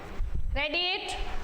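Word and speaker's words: read: रीच्ड और रीच्ड रीच रेड रेड spelling same है दोनों में वर्ब की सेकंड सेकंड फॉर्म में भी और थर्ड फॉर्म में भी लेकिन आप लोगों को याद करनी है रीड रेड रेड बोला जाता है।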